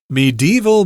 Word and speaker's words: medieval: It has these colorful medieval buildings. Medieval, you could say medieval. You could make that into 3 syllables there, or 4 syllables, but I tend to say 3.